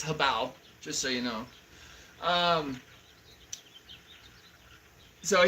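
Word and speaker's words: Hobao: Habao, whoever, you know, however you want to pronounce it, it's Habao, just so you know.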